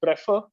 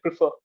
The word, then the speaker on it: prefer: correct you there uh so you said prefer prefer is a wrong pronunciation you should you should say prefer prefer prefer prefer yeah and also